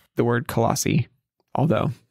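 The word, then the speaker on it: Colossae: the church in colassi how do you say colassi just like you did coli or col col I go colassi colassi okay yeah I hit the a this that colassi yeah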